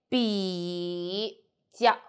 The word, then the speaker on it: 比较: So, 比 we don't need to say 比较 We say 比较比较 So, only pronounce these parts.